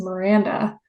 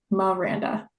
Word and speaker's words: Miranda: So, now as an adult, I introduce myself as Miranda, but I think lots of people will say Miranda or Maranda.